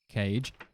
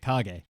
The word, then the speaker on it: Kage: Cage. Yep, I called them that my entire childhood as well. Oh, what is it? Kage? Yes, it is.